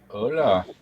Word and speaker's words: hola: There's an H in front of the O. The H is silent. Hola.